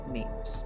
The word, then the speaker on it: Mapes: Having a hard time thinking of how to pronounce that one. Shut out. Shut out? Mapes.